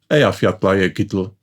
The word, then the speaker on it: Eyjafjallajökull: It is Eyjafjallajökull.